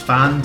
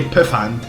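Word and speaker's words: Pfand: I think it's fanned. It's spelled P F A N D. It's definitely not. It can't be Pand, but I think it's fanned.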